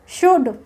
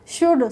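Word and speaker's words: should: है कैसे रहता है शुड एस एच यू एलडी शुड तो इसमें एल साइलेंट है शुड शड तो नहीं बोलते इसको शुड बोलते हैं तो एल साइलेंट है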